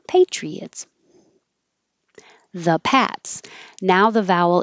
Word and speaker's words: Patriots: fun to say Peabody Patriots Patriots this Y is here because once your tongue is up for a e Patriot it's gonna slide down and make a a intrusive way Patriots the Pats now the